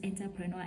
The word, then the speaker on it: entrepreneur: in a certain place will say this word is entrepreneur, entrepreneur, entrepreneur, but no, it is entrepreneur.